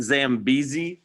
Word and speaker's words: Zambezi: The one above it, it's actually an E. So it's Zambezi River. Okay. It's hard to see on that spelling whenever you zoom it in right there. So the Zambezi is to the north of Zimbabwe.